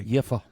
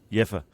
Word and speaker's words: Jever: Jever, or anybody want to pronounce it in a better way? Jefer. Jefer. Sounds like a curse. V is an F in German.